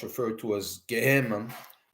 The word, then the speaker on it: Gehenna: In the Torah and in Kabbalah, it's referred to as Gehenna, okay, Gehenna, or Gehenna, depending on how you want to pronounce it.